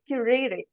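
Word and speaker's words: currere: So when we talk about curriculum, now this word is not, it has derived from a Latin word, which is pronounced as curere.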